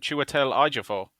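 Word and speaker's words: Chiwetel Ejiofor: phonetic spelling i've got this is exactly that chewatel iger for okay i think you're slightly better but i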